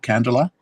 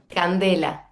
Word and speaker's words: Candela: So, first of all, your name is pronounced candela. Candela.